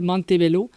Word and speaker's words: Montebello: petit village qui s'appelle Montebello mais nous c'est Montebello jeanglaise tu l' dis à l'anglaise mais par que je l'ai déjà entendu très très souvent mais on le prononce francophone donc monte Bello mais oui euh tout